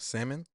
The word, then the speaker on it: salmon: Talk about salmon.